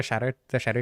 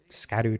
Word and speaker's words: Scadu: I saw people calling the shadow tree the skibbity tree. I pronounced it Scadu tree through my entire playthrough, but apparently it's Old English and is supposed to be pronounced shadow or shadow.